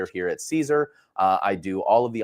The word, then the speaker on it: Siser: Now, for us here at Siser, again, it might be foreign to some of you there, but it is pronounced Siser.